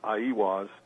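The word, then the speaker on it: Aiwass: Well, I think the Book of the Law, which Crowley supposedly wrote through automatic writing, Crowley attributed to, I believe the way it's pronounced is Aiwas.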